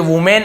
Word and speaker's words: women: तो हम वहाँ पे विमेन लिखेंगे। भाई इसे वुमेन ऐसे पढ़ सकते हैं आप लोग, लेकिन सही उच्चारण इसका विमेन ही होता है, ठीक है।